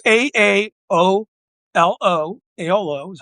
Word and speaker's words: AOLO: It's it's a AO L O. AOLO is how I pronounce it.